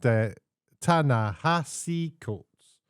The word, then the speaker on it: Ta-Nehisi Coates: His name's pronounced Ta-Nehisi Coates, and it's this gentleman here.